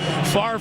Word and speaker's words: Favre: Favre rhymes with starve. Don't worry about the order of the letters. Just say it right.